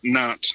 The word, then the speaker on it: Nantes: Right, in Nantes? Is that how you pronounce it? Nantes, yeah? Yes, Nantes, yes.